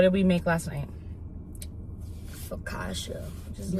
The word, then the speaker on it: Focaccia: Focaccia, which is You like said it right.